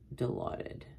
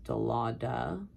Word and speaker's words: Dilaudid: The floor I worked on, usually they would come up with Phenergan, acetaminophen, and Dilaudid, which I've heard people pronounce Dilauda.